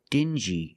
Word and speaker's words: dingy: Example, dingy and stingy. These two words have the regular n sound plus the j like juice together.